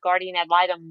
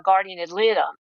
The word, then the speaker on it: guardian ad litem: this is a guard it's actually three words it's guardian and then add a d and then litum l-i-t-e-m so a guardian ad